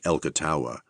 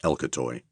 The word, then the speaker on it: Elcatawa: tiny little towns with mysterious names like Elcatawa, which I was instructed to pronounce Elcatoy.